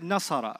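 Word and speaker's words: نصر: I said nasara, right? You know what syllables are? Separate sounds. Nasara. How many separate sounds did you hear? Three syllables.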